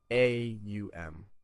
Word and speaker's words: Om: Om is pronounced as three distinct sounds. A u m.